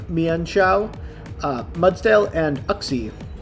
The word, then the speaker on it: Uxie: chao uh mudsdale and uxie or yuxie as i'm told it's pronounced snoot on the other